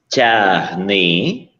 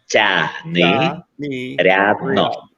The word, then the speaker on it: Tiagnyriadno: Tiagnyriadno. Tiagnyriadno.